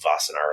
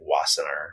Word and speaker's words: Wassenaar: There's an international agreement called Wassenaar. It looks like Wassenaar, but the W is pronounced V.